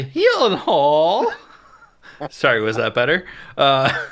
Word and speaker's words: Gyllenhaal: cast alone and Maggie Gyllenhaal you know directing oh you said it wrong Maggie he Hall sorry was that better